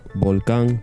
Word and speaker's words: volcán: The N consonant, n, is velarized and pronounced ng at the end of words. For Velarized. example, in the word for balcony, Balcón, the word for Balcón. volcano, volcán, Volcán.